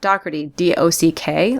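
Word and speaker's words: Dougherty: troubled with but to the right of that do do o c k like a dock by uh you know water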